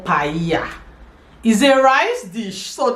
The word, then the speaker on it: paella: So you see double L is Y in in Spanish. Double L is Y. Mhm. So anywhere you see double L you pronounce it with the Y sound.